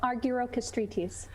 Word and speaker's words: Argirokastritis: tell us your last name again oh arguero castritis that must have been fun trying to learn how to spell that when you were growing up oh actually